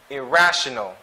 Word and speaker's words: irrational: take note of that this word irresponsible next irrational second syllable de-stress irrational again irrational irreversible irreversible now